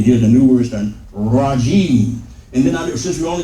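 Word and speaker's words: الرجيم: But we only pronounce it as one syllable because when you come to the end of a phrase, an expression, then you drop the last vowel. So although this is jimi, we drop this in pronunciation and just say jim.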